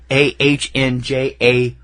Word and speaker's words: Angela: AHNJAYLA. Angela. Angela is how they pronounced it throughout the movie.